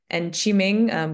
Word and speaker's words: Qiming: And Qiming, which is spelled Q-I-M-I-N-G for Sriram, our tech lead.